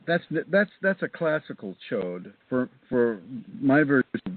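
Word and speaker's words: Chöd: One of the fear tests everybody that I give to people is is a is my own form of cho. It's a Tibetan term. It's spelled ch H O the umla or the O and D.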